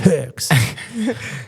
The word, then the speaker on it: Höchst: senior partners to a town in Germany called Höchst. Hoecsht, Höchst. I'm not even going to try to. It's pronounced Höchst.